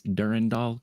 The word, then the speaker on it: Durandal: sword of Durandall and if you look up the pronunciation of that sword, it's uh durandal. Okay. To emphasize the second syllable. So even more different from Durandell. Are you saying that OG Bun just said Dur Randal? Yeah, it's it ends in doll. So like Durand doll like saying and Randall